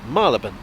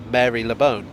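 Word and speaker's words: Marylebone: down below i was always taught malaban however i have heard it pronounced marvin marabon mariben or marilla bone it is never mary lebone although since it means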